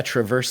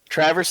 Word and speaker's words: Traverse City: Oh wow, they're from Michigan, Yeah, Traverse City, Michigan. Traverse City, Michigan. No fucking way. I got family up there. It's pronounced Traverse.